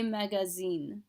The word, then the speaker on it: magasins: go shopping, faire les magasins. So an S in between two vowels, that A-S-I, that S is going to end up getting pronounced like a Z, so it's magazine.